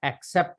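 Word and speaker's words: accept: जब भी ए के बाद डबल सी आएगा तो उसे क साउंड बोलेंगे, ठीक है?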